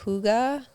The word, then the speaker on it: hygge: It's called hygge, and it's spelled Hygge, I wanted that to be the name of the coffee shop originally, but I knew everyone would say it.